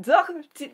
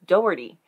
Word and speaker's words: Doherty: Alyssa Doherty. No, I got it wrong. I checked the pronunciation and I had been practicing it wrong. It's Doherty. Alyssa Doherty.